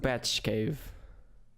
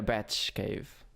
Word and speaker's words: BATXCAVE: pronounced Batch Cave. BATXCAVE? Yeah, Batch Cave. Because it comes from the word bachillerat, which is a Oh. Catalan word.